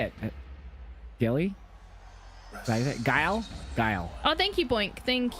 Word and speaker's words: Guile: How do you spell it? G-U-L-I-E. Gilly? I-L-E. How do you say it? Gilly? Guile? Guile.